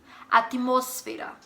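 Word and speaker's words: atmósfera: Em português a palavra, por exemplo, atmosfera, em espanhol atmosfera, entenderam? Sílaba tônica tá no mos, não está no... em português, como é em português, atmosfera, não é igual em português.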